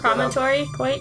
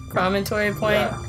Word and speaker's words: Promontory: How do you spell it? P R O M O N T O R Y. I still not going to even try and say it. But we we actually looked it up. I forgot about that. And we we even had Google say it for us and I think I said it wrong. Yeah, you were right. Promontory point. Promontory point.